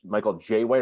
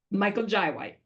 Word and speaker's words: Michael Jai White: Is it Michael J. White or Michael Jai? Michael Jai White.